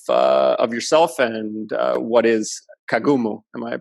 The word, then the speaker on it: Kagumu: an intro of of yourself and what is Kagome Oh am i pronouncing that correctly yeah exactly great pronunciation yeah